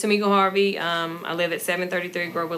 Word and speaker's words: Tamika Harvey: Did I pronounce your name correctly? Yes, you did. You pronounced it correctly. My name is Tamika Harvey.